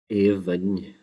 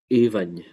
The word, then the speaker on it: Aoibhinn: AO at the beginning, except for it can be pronounced three different ways. A, E, or U, depending on the dialect area.